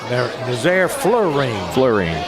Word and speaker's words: Florine: Nazaire Florine. Like fluoride.